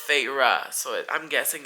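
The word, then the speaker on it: Feyre: the main character's name yeah and you know it's spelled f e y r e so I was saying fairy fairy and then literally like I was like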